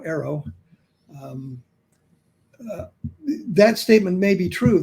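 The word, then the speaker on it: AARO: The other thing is, when she makes a statement like that about ARROW, that's how we pronounce the acronym now, ARROW, that statement may be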